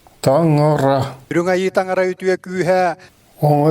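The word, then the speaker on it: Таҥара: On prononce ce mot en yakut Tangara. Tangara.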